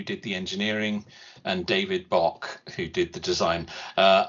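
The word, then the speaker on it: Bache: Spencer, Spven Spen King who did the engineering and David Bock who did the design. Uh, I'm not 100% sure the pronunciation of that, but I'm assuming it's Bach. B A C H E.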